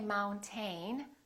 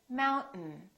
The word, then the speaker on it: mountain: This AI, these 2 letters are not pronounced. We don't say mountain. We say mountain. Mountain. This syllable is stressed. Therefore, the second syllable is reduced and the vowel disappears.